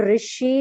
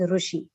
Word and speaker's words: Rishi: Because for example, when we say Rishi, I mean the vowel sound Rishi, it is pronounced as Ri in northern India, whereas in south it is called as Rushi. Rushi. In Maharashtra also is called Rushi.